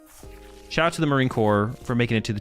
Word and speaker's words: Corps: for making the Marine Corpse 250th birthday? Shout out to the uh or it's not corpse, right? Marine Corps. Wait, do you say core? Even though shout out to the Marine Corps for making it to the 250th birthday.